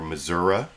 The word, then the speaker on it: Missouri: Senator Claire McCaskill from well it could be Missouri or Zhora depending on the way you like to pronounce it that actually you'll see